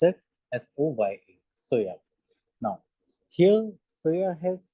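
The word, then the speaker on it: Soja: S O J A is but it is pronounced at S O Y A.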